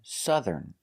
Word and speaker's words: southern: So we see these two special words, country and southern. They're spelled with OU, but they don't make the OW sound. They make the sound.